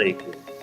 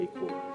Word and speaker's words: EQWell: but it also is another way of saying equal you know and and